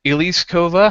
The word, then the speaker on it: Elise Kova: Uh Elise Kova has always had a passion for storytelling.